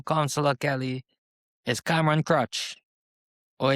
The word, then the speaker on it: Kroetsch: And your current Ward 2 Councillor, Kelly, is Cameron Crutch, or if I pronounce his name correctly, Crutch or Crush or Crutch, what, his Which I name, think. Crutch, okay, Crutch.